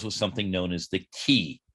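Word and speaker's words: qi: something known as the key q i q i it's pronounced key and so the key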